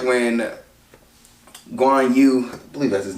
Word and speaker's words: Guan Yu: the scenes i do like i like when guanyu i believe that's his name let's say i